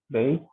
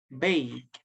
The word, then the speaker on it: bake: For example, bake, baking, and drive, driving. See, in bake and drive, we don't pronounce this letter E, okay? Bake, bake.